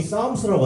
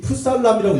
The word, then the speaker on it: Psalms: 그 전에 제가 시편이이 영어로 시편이 싸움스라고 하잖아요. 저거 보면서 혹시 풋살람이라고 읽으신 분 있으면은 영어 공부 어 좀 섭섭하실 것 같아요. 풋살람이 아닙니다. 싸움스라 그러는 건데 저 싸움스라는 단어는 사실 시편이 영어로 이제 싸움스예요.